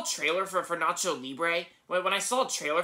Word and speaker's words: Libre: movies titled nacho libre i used to mispronounce that as like labrie like nacho liberty but it's actually pronounced nacho libre yeah there you go